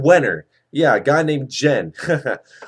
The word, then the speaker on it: Wenner: Roll Hall of Fame, his last name rhymes with Wiener, something, Jen Wenner.